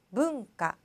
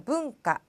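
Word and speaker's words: 文化: 자 이렇게 붙여서 얘기하는데요 주의하셔야 할 것은이 문자가 뭉 뭉이라고 읽힌다는 거 붕가 자 붕가 자 열심히 연습을 발음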